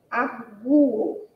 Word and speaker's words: arguo: Exemplo, ó, arguo. Na pronúncia a gente vai pronunciar o U aí com mais ênfase, né? Arguo, como se existisse um acento, apesar desse acento não aparecer.